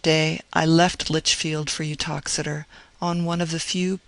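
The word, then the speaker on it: Uttoxeter: Boswell, I think, speaks of the town, its name is pronounced Utoxider, as being about nine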